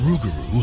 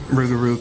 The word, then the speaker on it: rougarou: got an American makeover rugaru kind of sounds almost like a butchered pronunciation of loop Garo the rugaru we get that from the Cajun accent everything kind of just gets smoother when you get to Louisiana when the legend moved